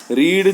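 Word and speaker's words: read: गो का हो गया रीड जो है वह रीड रेड रेड लेकिन स्पेलिंग जो होती है एक ही होती है इसलिए रीड रीड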